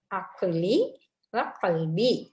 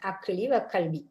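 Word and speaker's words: عقلي وقلبي: நேரங்களலயோ வர் அக்கி வல்பி கா உச்சரிக்கணும் ரண்டு காவும் உச்சரிக்கணும் அக்கல்லி கல்பி அதாவது எனது அறிவையும் உள்ளத்தையும் ஒளிமயமாக்குவாயாக அக்கல் அறிவு கல் உள்ள அதுக்கு பதிலாக அக்லிவ கல்வி என்று துவா கே்கறோம் வைத்துக்கொள்வோம் யா அல்லா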